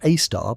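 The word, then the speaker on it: Sagittarius A*: The one at the centre of our Milky Way, known as Sagittarius A, pronounced A star because astronomers enjoy confusing punctuation, weighs in at about 4 million solar masses, and that's considered modest by cosmic standards.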